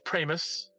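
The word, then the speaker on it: Pramas: um there's somebody Chris prus rhymes with famous um that's the way his wife introduced him to me 20s something years ago Chris prus Ry with famous I've never forgotten it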